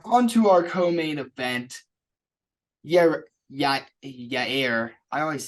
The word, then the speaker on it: Yair: Yair. I always say it wrong. Yair. Yair.